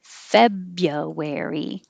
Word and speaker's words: February: a new vowel fair february the vowel in feb is e january the vowel in